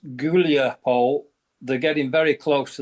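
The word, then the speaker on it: Huliaipole: going to be Yancho River Julia which is pronounced Gulapole they're getting very close to that that's a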